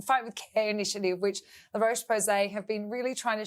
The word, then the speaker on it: La Roche-Posay: La Roche-Posay, yes.